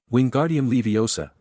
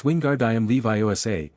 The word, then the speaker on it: Wingardium Leviosa: Wingardium Leiosa, he shouted, waving his long arms like a windmill. You're saying it wrong. Draco heard Hermione snap. It's Wingard Levi. Make that gar nice and long.